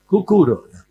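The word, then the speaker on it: কুকুর: Kukuro.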